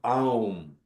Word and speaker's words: Om: word is the word is om pronounced om we all use it